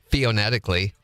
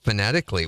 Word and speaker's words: phonetically: I used to say theonetically.